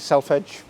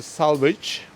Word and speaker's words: selvedge: correctly I hope yeah lots of people call Salvage some people call itelf Edge but we are so used to hearing it all sorts of ways you're telling me I